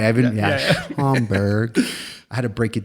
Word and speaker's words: Schaumburg: I've been, Schaumburg.